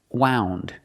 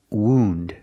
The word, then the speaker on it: wound: word is not pronounced wound the word is pronounced wound this is a wound use the long ooh sound like food and Moon woo wound this is